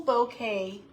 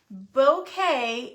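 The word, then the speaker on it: bokeh: The 6x6 pack of beautiful bouquet paper.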